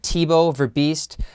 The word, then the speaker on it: Thibault Verbiest: network and today on blockchain interviews we have tebow ver beast the lawyer and novelist of multiple books welcome